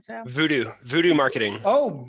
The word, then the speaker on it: VUDU: VUDU Marketing. Oh, VUDU. It's spelled differently. Cool. Yeah, VOODOO was taken, so I went with that.